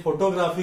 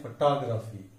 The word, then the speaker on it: photography: हम उसे फोटोग्राफी कहते हैं, लेकिन उसका सही उच्चार फोटोग्राफी। सेकंड सिलेबल पर टॉप पर उसका स्ट्रेस है, इसलिए उसका सही उच्चारण है फोटोग्राफी।